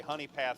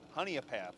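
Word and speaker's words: Honea Path: adam agui from honey honey i'm gonna say honey path south carolina honey a path okay i gotta get that extra syllable thank you 96 south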